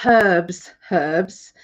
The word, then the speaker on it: herbs: And we call herbs, and you call them herbs, I think. Herbs, and we call them herbs. We pronounce the h for herbs.